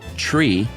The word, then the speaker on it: three: Uh three is pronounced tree.